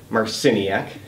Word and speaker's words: Marciniak: It's Michelle Marciniak.